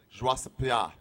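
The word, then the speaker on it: Georges St-Pierre: Pierre's name a few times, and he pronounced it the French Canadian way, and it's shockingly different. What is this? A It's like, papaya? it's like joie se pia.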